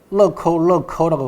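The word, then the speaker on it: 乐扣: 락앤락 보시면은 락구라고 돼 있죠. 럭커라고 발음합니다.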